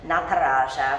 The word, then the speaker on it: Nataraja: And even though he's you know, a fictional deity, he still deserves the respect of us pronouncing his name correctly. So Nataraja, we're gonna see his pose here, I promise, in a few quick moments.